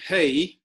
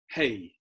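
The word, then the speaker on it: הא: then you've got there hey and it's just like hey you're doing over there the same way you pronounce it that's the H so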